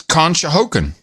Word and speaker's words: Conshohocken: control kahoka n-- con Shoko scotch I can't pronounce the city it's $200 from him and he's in Pennsylvania con it's Conshohocken Donahoe Conshohocken contract Conshohocken yeah yeah I'm in